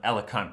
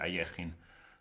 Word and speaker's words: Alekhine: But such is life as an Alekhine player, or Ayechin. I never know how to pronounce it. In German we say Ayechin. I guess people say Alekhine in other jurisdictions.